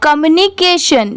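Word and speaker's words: communication: जैसे COM, इसे कॉम नहीं पढ़ेंगे, कम पढ़ेंगे। MU मुंह, कॉम मुंह, और NI नी, और CATION, इसे क्या पढ़ेंगे? केशन। जैसे अगर आप इसमें भी डिवाइड करना चाहें तो CA को K पढ़ेंगे और TION को हमेशा सन ही पढ़ते हैं, तो पूरा क्या हो जाएगा?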